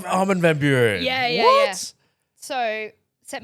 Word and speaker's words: Armin van Buuren: Armin van Buuren? Did I pronounce that right? Armin van Buuren.